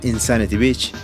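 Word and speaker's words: N. Sanity Beach: N San Sanity Beach, era en realidad un juego de palabras en inglés que se pronunciaría como Insanity Beach o lo que vendría a ser Playa de la Locura.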